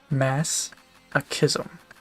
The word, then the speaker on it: masochism: Masochism. Hard C.